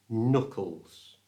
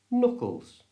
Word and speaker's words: knuckles: And these are called knuckles. To say this correctly, don't pronounce the K. It's silent. It's just knuckles.